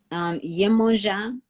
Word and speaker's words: Yemoja: Yemoja, who's, the mother, the nurturing mother energy, spelled a few different ways, but the way that I'm pronouncing it is spelled Yemon as in Nancy, J-A.